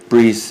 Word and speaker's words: Brice: Brice is the French pronunciation of Bryce.